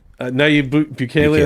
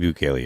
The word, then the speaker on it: Nayib Bukele: I don't want to mispronounce the president of El Salvador's name. Let's just say it's Max Kaiser. It's not Max Kaiser. Bukele. Nayib Bukele, that's how you say it? Nayib Bukele, yeah. Thank you.